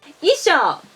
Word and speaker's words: 衣装: And as I said in other videos, ou should be pronounced o. So the difference between these two words is on the length of the last vowel. Isho has 3 molars. Isho has 2 molars.